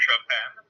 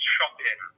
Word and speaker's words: Shopin: So this is a common thing that sometimes people like to pronounce it as Shopin or Chopin, and they think it's a homage to Chopin, the music. Actually, it's pronounced Shopin, as in Shopin.